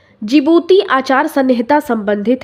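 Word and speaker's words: Djibouti: में रखना है कि जिबूती के देख देखिए स्पेलिंग भी होती है डी से स्टार्ट होती है जिबूती आचार संहिता का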